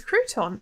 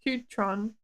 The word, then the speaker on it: crouton: Crouton oh c couton that's not the word cron it's Crouton that's how you say it look up what you put but you've described a crouton it's definitely not cutron I am confused you're